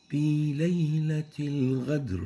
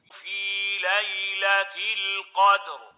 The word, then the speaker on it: القدر: This is wrong. It means a totally different meaning from qadr. Qadr and ghadr are totally different words. And the right way of pronouncing it is like this. في ليلة القدر. Qadr. So make sure not to replace the qaf with a ghain.